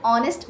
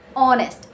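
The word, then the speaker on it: honest: रही है ठीक है एंड ऐसे ही एन ऑनेस्ट बॉय ऑनेस्ट एच is silent तो ऑनेस्ट ओ की साउंड आ रही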